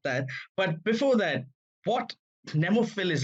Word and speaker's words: Nemophilis: Nemophilis.